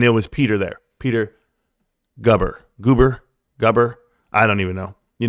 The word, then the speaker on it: Gerber: with business partner Peter Gerber. I didn't say you say his name. There's no Ger. No, it's Goober. So Goober right there, if you guys don't